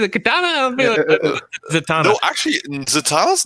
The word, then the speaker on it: Zatanna: Is it Katana or Zatanna?